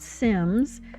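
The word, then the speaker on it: Cims: They're called Sims spelled with a C.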